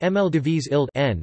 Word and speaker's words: Maldivische Eilanden: The Dutch referred to the islands as the Maldivish Islanden, pronounced Mldivis Ild N, while the British anglicised the local name for the islands first to the Maldive Islands, and later to Maldives.